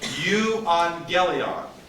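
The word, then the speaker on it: εὐαγγέλιον: Now, this word has another double gamma, right? So how would I pronounce this word correctly? Euangelion.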